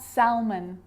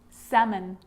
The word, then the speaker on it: salmon: easier in these words where L is really difficult to pronounce then it's silent ready let's try it could could should should talk walk yolk half-caf salmon not Salman salmon so we got through